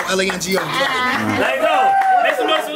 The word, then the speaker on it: Lango: Lango rhymes with mango, rhymes with tango. L-A-N-G-O.